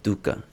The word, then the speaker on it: dukkha: okay, and so to ask the first question, he talks about the ubiquity of dukkha. Am I pronouncing that right? You are pronouncing it beautifully.